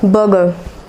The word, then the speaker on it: burger: जो इसमें जो आर होता है, जो दो आर है इसमें, वे साइलेंट है।